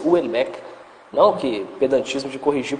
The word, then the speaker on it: Houellebecq: Assim, por hora eu estou lendo o Michel Houellebecq, que é outro autor também que eu imagino que você deve gostar, não sei, o Michel Houellebecq, o pessoal fala Houellebecq, mas é francês, Houellebecq.